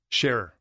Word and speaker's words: Sharrer: bet how do you say your last name sharer see what did zach say no i i've